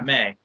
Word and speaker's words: Mei: Yeah, May.